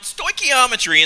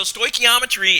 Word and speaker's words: stoichiometry: Now, stoichiometry, and that's how I pronounce this funny-looking word that's on the screen, is really not as bad as it seems.